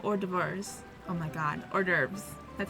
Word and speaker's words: hors d'oeuvres: Oh my god, hors d'oeuvres. That's how you pronounce that.